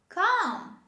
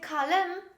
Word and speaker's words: calm: walk the next example calm come don't say callum this is calm the next word this